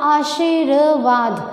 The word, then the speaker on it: आशीर्वाद: हमने इसे बोला आशीर्वाद, तो आशीर्वाद में आपके पास में जो र आया वो यहाँ आया।